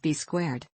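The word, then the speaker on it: B²: Rec christened to B2 also written B and pronounced B squared B2 helped Cena kickoff 2003 with a win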